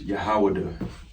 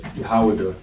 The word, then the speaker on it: Yahawadah: All right, in the Paleo Hebrew is Yahawadah. All right, Yahawadah, and you see here, if you go use the alphabet, okay, as you always do.